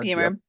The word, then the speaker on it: Beamer: Beamer like the car.